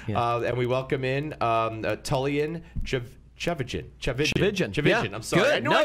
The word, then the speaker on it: Tchividjian: And I tell people it rhymes with religion, if that helps. Right, Tchividjian religion. Yes, Tchividjian religion.